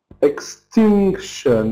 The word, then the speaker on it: extinction: Extinction. Yes. Not very good. Extinction. We can't say extinction. Extinction. Mhm. No. Animals is first. Yes. Stress before the suffix. Stress before shun.